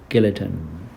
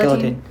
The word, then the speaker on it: guillotine: guillotine.